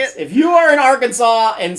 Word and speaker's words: Arkansas: in little rock okay it is illegal to pronounce arkansas incorrectly so you can't say our kansas or kansas the way a lot of people would probably say it if you are in arkansas and say our kansas